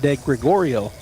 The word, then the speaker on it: de Gregorio: 19 to the plate de Gregorio there that's how you say it easier than the way I was trying to say it de Gregorio so de Gregorio steps